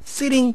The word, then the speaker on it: sitting: Sitting behind him. Sitting이 되겠죠? T가 양쪽 모음 사이에서 T 발음 혹은 L 발음이 납니다.